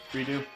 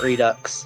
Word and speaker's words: Redo: redo? That's pronounced redo, not redux. Nah. I don't know why people keep pronouncing it redux. Anybody who pronounces it redux is dumb. Just because it sounds cooler.